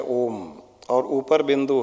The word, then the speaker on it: ओम: जब हम ओम का उच्चारण शुरू करते हैं तब उसकी ध्वनि मुंह से निकलनी चाहिए, फिर धीरे धीरे मुंह